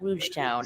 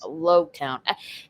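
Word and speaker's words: Loguetown: It's not Rouge Town. It's Logue Town.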